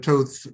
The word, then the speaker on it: Toth: a thing or two, Alex Toth rhymes with both.